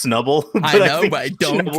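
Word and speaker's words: Snubbull: to me that that he keep calling it schnubble because it's definitely just pronounced snubble i don't know i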